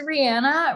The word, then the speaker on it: Rihanna: rihanna my name is rihanna rhymes with banana i use she her